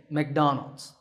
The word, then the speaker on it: McDonald's: To say it correctly, say Donald. The first syllable is Don, and the second is Ald, Donald. So the company's name is McDonald.